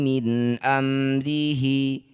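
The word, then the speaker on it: مِنْ أَمْرِهِ: Birruhi min amrihi. Nun sukun bertemu hamzah disebut bacaan namanya idhar halqi. Baca jelas bunyi nun tanpa dengung.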